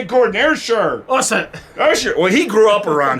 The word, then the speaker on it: Ayrshire: Ayrshire coast of Scotland, which is on the west coast. I'm getting it, Gordon. Ayrshire. What's it? Ayrshire.